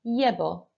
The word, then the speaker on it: llevo: So looking at column 3, which is llevo, I wear. Repeat after me, llevo. Muy bien. Just remember that that double L is a Y sound.